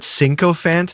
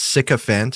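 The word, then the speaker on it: sycophant: Uh he made up a word, sinopant. That's not even a word. It's sickant is how it's pronounced.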